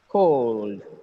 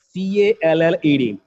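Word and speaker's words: called: Build, build, cold, cold, drilled, drilled, filled. Look at here, look at the word C-A-L-L-E-D. It's not call, it is cold, cold. The pronunciation is cold, cold, cold.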